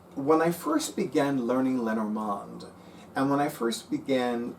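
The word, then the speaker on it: Lenormand: Lenorand if you prefer, I I I have difficulty Americanizing the pronunciation because I took two years of French in high school. So, for me, it's more natural to say Lenorand as opposed to Len Normand.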